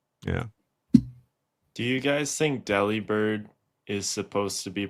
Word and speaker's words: Delibird: Delivered. Like delivered. He delivers the mail.